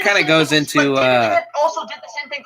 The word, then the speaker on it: Koepp: Its screenplay was written by both Michael Crichton and David Koepp, or how do you pronounce his name? David Koepp.